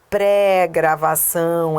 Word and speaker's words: pré-gravação: Então, lembra, se for tônico é com ifen, se for átono é tudo junto, é pré-gravação, é tônico.